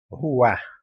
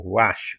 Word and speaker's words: ruach: ruá ou ruach, como alguns pronunciam, é aquele sopro divino que os animais não receberam, apenas o ser humano tem.